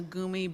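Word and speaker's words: goumi: And I'm not sure I can give you enough information today for you to recognize a gumi berry in the wild. Gumi is spelled G-O-U-M-I.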